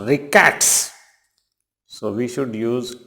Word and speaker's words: rickets: रिकेट एक बीमारी होती है, and it is never ricket. It is always pronounced rickets.